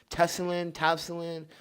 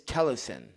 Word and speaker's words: TELESIN: A lot of people are pronouncing it TELESIN, but it's TELESIN.